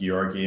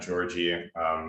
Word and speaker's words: Giorgi: communications cloud um my name is pronounced gyorgy not georgie it's with the soft g i'm originally from russia